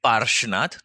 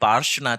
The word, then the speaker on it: पार्श्वनाथ: अब अगर आप प्रोनाउंसिएशन को देखोगे पार्श्वनाथ, तो कहीं से बीच में जो श आ रहा है वो कहीं से न कहीं आपको स्नेक की तरह साउंड करता है ना?